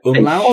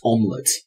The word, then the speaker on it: umlaut: It's pronounced umlaut. It is not pronounced omelette.